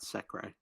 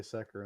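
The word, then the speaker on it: Secre: No, it's Sekrai. Yeah, I don't care It's about the dub. Secker. I'm weeb. That's what the little line over the E means. It means A. Pronounced A.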